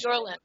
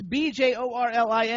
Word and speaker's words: Bjorlin: Nadia, and I don't know how to pronounce her last name, but Jorlin. She is. Jimmy, what's wrong with you? It's BJORLIN.